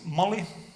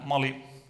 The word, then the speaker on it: Malli: what came out is Molly and Phoenix is like a nice language because you write things as you pronounce them so it is modeling